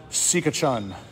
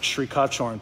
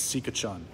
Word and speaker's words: Sikachun: Pal Sikachun. It's not pronounced Shrikachorn, people. It's Sikachun. I asked. I got the original Thai correct pronunciation.